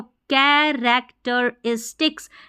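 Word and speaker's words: characteristics: इज डिक्स नहीं आई एस को वैसे इज़ पढ़ते हैं। लेकिन यहां पर इस पढ़ना है। ठीक है? यहां पर हमको इस पढ़ना है। वैसे आई एस को इज पढ़ा जाता है।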